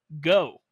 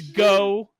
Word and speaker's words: Goh: Like, my man's name is Go. GOH though. It's spelled GOH.